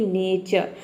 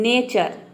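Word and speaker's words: nature: और इसमें आप चाहे तो आर को साइलेंट रख सकते हैं। देखिए होता क्या है कि कभी कभी हम आर को जब प्रोनाउंस करते हैं यानी कि र प्रोनाउंस करते हैं तो पूरा र प्रोनाउंस कर देते हैं, इस तरह से बोल देते हैं नेचर, तो इसका प्रोनाउंसिएशन रॉन्ग हो जाएगा। इस तरह से आप बोलेंगे तो आपको क्या करना है, आर को साइलेंट रखना है, आपका प्रोनाउंसिएशन करेक्ट होगा।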